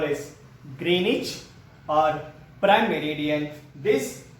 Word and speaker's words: Greenwich: Zero degree longitude, 0 degree longitude is called as Greenwich, which is pronouncing as Greenwich. Greenwich.